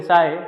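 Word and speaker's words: psi: इसको हम लिखते हैं पीएसआई, जिसको बोलते साई, स्पेलिंग है पीएसआई।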